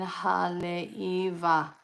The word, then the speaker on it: Haleiwa: Oh, if you look at the bridge, Waimea Sunset Pipeline Haleiwa. The W is a V.